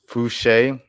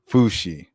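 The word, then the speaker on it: Fousheé: for years now and I still get tripped up on how to exactly pronce pronounce her name if it's fuche or fushi but but I believe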